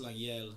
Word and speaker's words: Lengyel: It's it's Hungarian and it's pronounced Lengyel. So even Oh, I don't wow. even pronounce it the right way. Okay. But I grew up pronouncing it Lengyel.